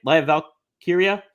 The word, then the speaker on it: Lyra Valkyria: Lyra Valkyria.